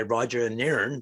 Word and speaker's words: Roger Nairn: But today I'm joined by Roger Nairn. Did I pronounce it right?